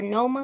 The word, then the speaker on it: Noma: to pronounce her name I know it's n-o-m-a so it could be no me or Noma no no no my Noma okay okay Noma Noma